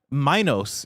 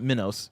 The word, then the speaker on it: Minos: Minos is how it's pronounced, not Minos.